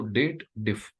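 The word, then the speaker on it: DATEDIF: diff date diff so people always draw does a wrong pronunciation they believe that there is a if condition added and they have to read it as dated if but technically this is a date related formula we should read it as date then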